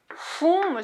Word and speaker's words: whom: 지금은 그냥 인정해 주지만 원래는 목적어 자리에는 whom을 쓰는 거야. 누구를 이럴 때 whom 이렇게. 근데 이 M 발음이 되게 힘들어요.